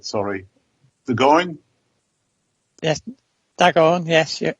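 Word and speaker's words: D'Agorne: I'm not going to pronounce this right. Sorry. Dagoin? Yes, Dagoin.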